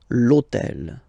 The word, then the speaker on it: l'hôtel: And third example, so I took on purpose this hôtel, okay, because it starts with H, but remember that in French we don't pronounce H, okay?